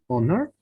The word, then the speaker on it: honor: remember guys somebody honor honor right yes loss of h sound right we don't say honor